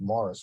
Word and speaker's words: Maurice: The Morris River is spelled like the man's name, Maurice, but it's actually pronounced Morris by the locals.